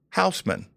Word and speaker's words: Hausman: And with me I have uh Pastor Houseman. Did I Did I pronounce that right?